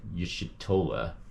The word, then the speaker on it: Y'shtola: Y'shtola.